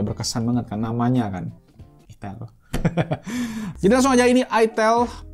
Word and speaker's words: itel: Bacanya itel ya, bukan i.